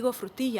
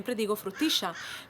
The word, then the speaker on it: frutilla: For example, if I say the word "frutilla" (strawberry), it's called "fresa" in other parts of Latin America, I'll never say "frutiYa", I'll always say "frutiSHa" because this a word I learned to pronounce in Argentina.